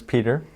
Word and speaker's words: Peter: Well, my name is Peter. It rhymes with ant eater.